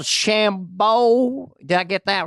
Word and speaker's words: DeChambeau: Is that Now, you pronounce the There's hard one O? called Shambo. Did I get that right? Bryson Shambo. DeChambeau.